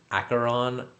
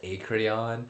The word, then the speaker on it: Acheron: But she mispronounces Acheron as Acreon, and so I'm just dogging on her for it.